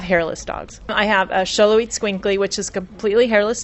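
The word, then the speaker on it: Xoloitzcuintli: Sholoit Squinkly. And I was told by someone who lives in South America how to say that, because I didn't know how to say it either.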